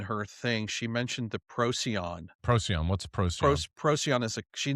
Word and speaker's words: Procyon: that they had come from the Procyon, How do you spell that? P R O Procyon? Procyon.